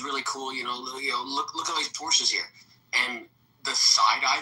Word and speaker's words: Porsche: You just call me a Porsche. Because that's how it's pronounced.